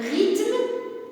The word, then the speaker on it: rythme: Un conte, un rythme, je n'ai pas prononcé le H.